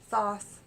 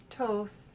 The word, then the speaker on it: Thoth: Aleister Crowley's soft Carol it's pronounced a few different ways Thoth Toth Toth and I've heard it